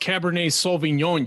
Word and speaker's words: Cabernet Sauvignon: pronounced Cabernet Sauvignon, you fucking savages.